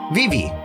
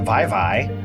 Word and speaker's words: Vivi: names pronunciation and stuff it would be like vivi the final fantasy 9 character yeah yeah v-i-v-i v you wouldn't call it vive now i get it